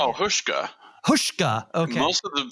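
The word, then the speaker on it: Huschke: I don't even know how to say oh hushka hushka okay most of the people that I've uh heard say the name people who knew him or knew of him say hushka hushka V hin okay love him as a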